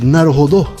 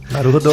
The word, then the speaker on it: Naruhodo: Nos últimos episódios, vocês têm deixado mais explícita a pronúncia oxítona de Naruhodô. Naruhodô.